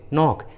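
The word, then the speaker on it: knock: का उच्चारण नहीं करते, जैसे नाइफ, नी, नो, नॉलेज, नॉक। देखिए सभी इंग्लिश वर्ड्स में के और एन एकदम शुरू में है और के एन के पहले है, इसलिए सभी इंग्लिश वर्ड्स में के साइलेंट है, के का उच्चारण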